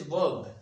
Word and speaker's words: verb: This is verb, not verb. R is silent here. So verb.